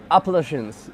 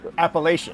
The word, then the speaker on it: Appalachian: near the how do you say it's like appalachians appalachian appalachian yeah yeah yeah appalachian trail not too